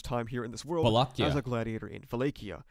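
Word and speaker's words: Vollachia: No, it's Valakia. It's not Volate.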